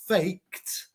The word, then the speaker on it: faked: quickly to help you learn the reason it's pronounced faked is because in the word ends in k